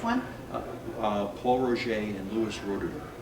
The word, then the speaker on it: Roederer: Oh, no, the Louis Roederer, or the Rodier, I think, as the French would say.